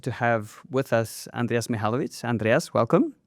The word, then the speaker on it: Mihalovits: Okay, so my name is Andreas Mihalovits. That's how you would pronounce it correctly.